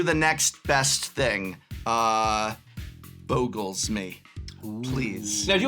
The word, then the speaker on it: Bogles: About Bogles versus Boggles. I This is the critical thing that the audience out there needs. Bogles. It's bogles. So, something boggles the mind. But a bogle is a little uh uh mythical creature, a little impish creature, and that is the Bogle. Also, Boggle is spelled differently and pronounced differently and means a different thing.